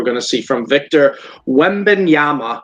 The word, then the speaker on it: Wembanyama: What do you guys think we're going to see from Victor Wembanyama? Wembanyama, that's how I've seen how to pronounce it.